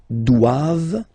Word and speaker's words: doivent: All right, and then the last one, ils doivent. So same thing, classic ending for the plural form, E-N-T here, okay, but then you don't pronounce it. Doivent, doivent. Elles doivent.